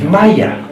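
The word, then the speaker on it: مية: In Egypt, one of the key words for water is Maya. It is not pronounced the same way in any other Arabic country. If you went to Saudi Arabia, they would say Ma or Meh. Only in Egypt is it pronounced Maya. And it means water.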